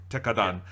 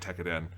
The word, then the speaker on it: Tekkadan: Yeah, Tekkadan. Which I am slightly annoyed because I did watch one scene from the dub, and they say it wrong, as Funimation shows often do. They say it Tekkadan.